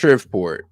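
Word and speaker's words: Shreveport: If that state's governor is defunding police resources or instituting soft crime laws that this Shripport All right, it's pronounced Shriport.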